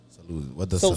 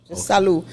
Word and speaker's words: Salud: right and and also with Salud what does salute salute salute you don't say the D the D is silent oh it's just salute salute so salute pertains to